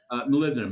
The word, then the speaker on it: molybdenum: it's again is that how you say it molybdenum yeah yeah so I think is a hardening